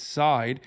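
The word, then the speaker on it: Seid: There's even some confusion over how to pronounce his last name. People who've dealt with him say it's Side.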